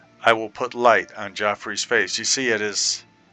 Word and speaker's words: Jauffre: Hello, I'm brother Joffrey. Can I help you? Oh, I thought your name was Jeffrey. That idiot uh poorly aging, sarcastic PC witty gamer. Maybe he's been mispronouncing it.